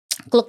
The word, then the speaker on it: Klook: Iya, Klook bacanya. Klook ya kayak. Klook KLOOK. Nanti mungkin aku taruh logonya kali ya.